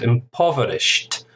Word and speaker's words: impoverished: That's an ed ending, is pronounced a t. Adjectives similar to verbs, ed endings have three pronunciations, and this is a t sound, impoverished.